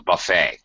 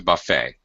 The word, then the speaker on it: buffet: a that's called a buffet uh the T at the end of the word is silent it's spelled with a t but you don't pronounce it French French word actually